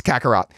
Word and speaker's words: Kakarot: It's Kakarot.